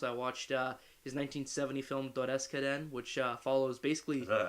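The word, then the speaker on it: Dodeskaden: I watched his 1970 film Doreskaren, which follows basically... Is that actually how you pronounce it?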